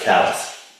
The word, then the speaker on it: Calais: Oh yeah, it's pronounced callus. That's fine. Callus, Calais, It's Calais, Maine.